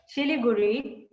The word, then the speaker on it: Siliguri: actually his native place siliguri right chili guru as the bengali is pronounced excuse me is a